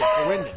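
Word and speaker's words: Ouendan: Pronounce it for me. Owenden? Yeah, Owenden.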